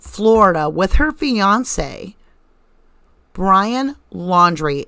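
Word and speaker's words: Laundrie: with her fiance brian laundry l-a-u-n-d pronounced laundry okay she's doing things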